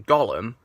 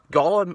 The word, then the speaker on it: Gollum: But one thing he got wrong was Gollum's cough, because, for you unaware, Gollum is called Gollum because he has a cough that sounds like the word Gollum.